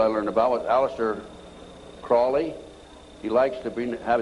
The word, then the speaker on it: Crowley: learned about with aleister crowley he likes to be have his name pronounced crowley to rhyme with holy and uh the satanists